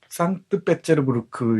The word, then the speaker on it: 상트페테르부르크: 상트페테르부르크 이렇게 발음하죠.